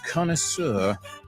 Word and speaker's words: connoisseur: is an acquaintance we use the French word he's a connoisseur a connoisseur you gotta put a little French pronunciation into it my Amigos all right